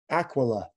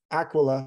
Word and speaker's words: aquila: that is known as aquila the eagle aquila or aquila is the latin word for a eagle in spanish it's aguila all they do is change the q into a g aguila is an eagle